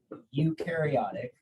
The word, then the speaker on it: eukaryotic: cells this is um eukaryotic uh you pronounce this e-u-s this is pronounced as a u and and this is